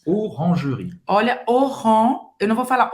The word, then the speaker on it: Orangerie: Então, Orangerie. Orangerie. Olha, eu não vou falar Oran. Orange, olha aqui, faz a boca do O e fala E fala E. Orangerie. Esse E no final não se pronuncia.